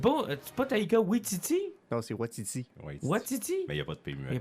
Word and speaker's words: Waititi: Ça se prononce Taika Waititi.